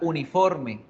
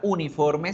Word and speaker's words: uniform: a dar cuenta que la pronunciación de la palabra uniforme no empieza por la vocal U, sino por otro sonido.